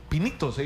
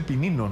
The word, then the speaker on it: pinitos: y bueno está haciendo No pinito se dice no se dice pinino no sus pinitos pinit así se dice se supone como conductor